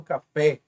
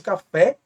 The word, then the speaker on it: café: não de S exemplo café também oxítona significa que é a última mais forte e quando houver a última mais forte com essa terminação leva acento por isso café leva cento a última e termine